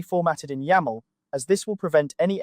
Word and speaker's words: YAML: This is the space where you'll paste your YML, pronounced "YAML", workflow configuration script.